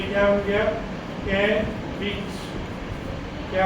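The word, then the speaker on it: caveat: बड़ी ई की तो साथ में क्या लगा ये क्या बन गया कैविट क्या हो गया कैविट क्या वर्ड है ये प्रोनाउंस कीजिए इसको कैविट what it इज कैविट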